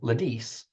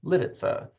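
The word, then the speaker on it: Lidice: most Americans happily began calling the new town Lis while Time Magazine reported that the Czech Consulate in Chicago gave the official pronunciation as litza in Juliet they pronounced it the new subdivision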